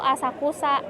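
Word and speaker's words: 浅草: Ini kalau enggak ada kanji paling belakangnya disebutnya dibacanya tuh Asakusa. Tapi kalau ada kanji paling belakangnya disebutnya sensoji. Jadi itulah susahnya bahasa Jepang.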